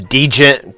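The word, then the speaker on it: djent: a lot of uh what's known as degen or gent music i've actually heard it pronounced gent a lot but it the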